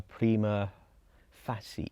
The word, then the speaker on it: prima facie: week we had uh prima facie i believe it's pronounced there was a bit of debate was it facie okay so a couple